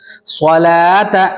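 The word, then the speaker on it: صلوة: उसके बाद देखो स्वलात, यहां पर भी लाम के बाद वाव पर क्या है, क्रॉस का निशान है स्वलाता में, इसलिए वाव को नहीं पढ़ेंगे, ठीक है, वाव साइलेंट हो जाएगा।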